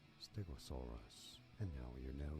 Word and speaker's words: stegosaurus: Stress on the third syllable. Stegosaurus.